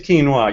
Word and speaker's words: quinoa: my daughter calls it quinoa yeah it is quinoa you're pronouncing it correctly uh um that way i